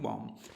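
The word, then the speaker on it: bomb: उसी तरीके से अगर देखें आप बॉम्ब, तो यहाँ पर भी बी साइलेंट हो जाता है, इसको पढ़ते हैं बॉम्ब।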